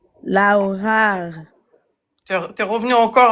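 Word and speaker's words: لوحة: Lauhar. Non, tu fais r à la fin, c'est pas r. Laou, ha. Lauhar. Ne fais pas le r.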